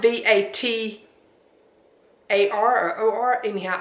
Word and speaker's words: Vatar: It's spelled V-A-T-A-R or O-R. Anyhow, I thought it was Vader, but I think someone on there pronounced it Vatar.